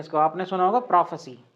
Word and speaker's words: prophecy: इसका प्रोनाउंसिएशन क्या होगा? प्रोफेसी, प्रोफेसी। क्लियर?